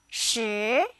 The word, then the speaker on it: 十: 十. It sounds like the word shirt without the T. Now say it with me. 十.